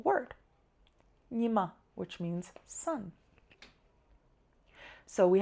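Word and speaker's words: ཉི་མ: So, here we have a two-syllable word. Nyima, which means sun.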